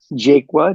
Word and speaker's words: Jaqua: you how my last name is pronounced it's pronounced jaqua J A qua I presently am um I